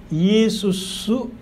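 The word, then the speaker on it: Ἰησοῦς: 어쨌든 그래서 사실 예수님이라는 우리 한국말의 이 예수라는 그 발음은 사실 굉장히 원어에 가까워요. 헬라의 이에수스 크리스토스 이렇게 얘기하는데 한자에는 야소라고 해요.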